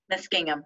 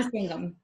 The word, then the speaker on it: Muskingum: Stephanie is the Assistant Interim Director at John McIntire Library, which is part of the Muskingum, am I saying that right? Muskingum, yeah. Muskingum. I'll mispronounce the word Smith, so my apologies.